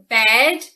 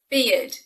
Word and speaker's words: beard: beard it's not pronounced bed or bird which are logical attempts of pronunciation because maybe it rhymes with bear or with herd but it doesn't of course it's pronounced beard beard he's growing her